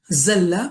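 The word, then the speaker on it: زل: It differentiates similar looking words because once you learn the makharij, you know dalla means he got lost. Zalla means he slipped. Dhalla means he stayed in certain position. And dhalla, a certain position or status or whatever, dhalla is to, be humiliated.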